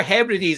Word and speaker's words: Hebrides: How do you pronounce that? The Outer Hebrides.